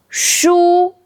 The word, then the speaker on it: 书: First side, first tone shu means books. Sh.